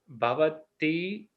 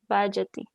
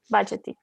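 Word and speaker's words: भजति: Sasarba vid bhavati mam. Bhajati. Bhajati.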